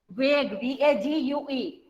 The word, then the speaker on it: vague: Vague, V-A-G-U-E. आपके GUE is there, but we are pronouncing only vague. V-A-G, vague.